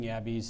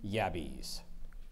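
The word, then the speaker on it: yabbies: any let me give you the sentence catching yabis is a popular activity in Australia so much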